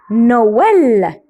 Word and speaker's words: Noël: Alors, on le prononce oe, oe, oe. Comme Père Noël.